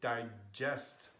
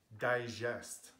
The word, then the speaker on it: digest: So G can be G and J, but not J. So we could say a sentence like, it gives me goosebumps, or I need to digest my food. But you can't say digest. That is a French pronunciation of G.